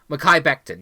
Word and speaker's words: Mekhi Becton: And they're gonna pick up part of the pronunciation, Mekhi Becton. Mekhi Becton, yes.